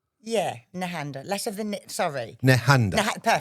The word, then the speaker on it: Nehanda: But is that how you pronounce it? That's how we pronounce it in my family.